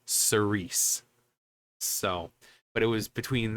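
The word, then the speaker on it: Cirice: this time it was between rats or uh Cerise which is yes that's how it's pronounced band-wise it actually has an of another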